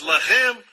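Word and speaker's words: לָחַם: Mesma escrita, a única diferença é a pontuação. Eles colocam os pontos em diferentes lugares. Um é Lehem, o outro é Lahem.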